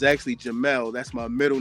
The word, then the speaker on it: Jamil: But actually um my mother pronounced it she spelled it J A M I L but she pronounced it Jamal. So it's actually Jamal.